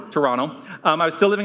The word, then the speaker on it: Toronto: There's no second T apparently. Toronto. Toronto.